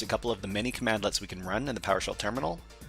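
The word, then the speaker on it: cmdlet: PowerShell commands are called commandlets, which is command which is pronounced commandlets.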